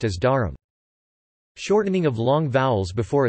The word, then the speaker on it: dharm: Coda clusters are removed with the use of vowels. For example, dharm, religion, is pronounced as dharam.